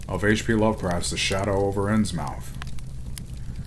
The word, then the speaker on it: Innsmouth: h.p lovecraft's shadow over ends mouth or innsmouth as i've heard it more commonly pronounced chapter four if you